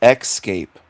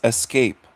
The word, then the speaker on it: escape: He says, "Excape." You're pronouncing the word wrong. It's escape. E S C A P E, not EC or EX.